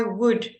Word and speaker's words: would: to anyone would would so it's almost like foreign you say it like that food would yes it's spelled I would recommend it but it sounds like wood um I would I